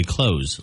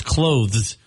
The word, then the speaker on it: clothes: e a lot of people just say closeth like what you do with a door close but it's clothes that's a tough one It's just tough especially when you're speaking fast it's you have to really enunciate it and the th is often it's a soft th if that makes sense clothes but it's hard to say mischievous that's supposed to